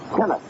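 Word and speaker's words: Tenace: at all said tennis who pronounces his name tenis as in t NN i s and who celebrated his 26th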